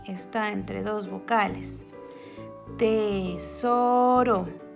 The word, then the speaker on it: tesoro: Tesoro, tesoro. Está entre dos vocales.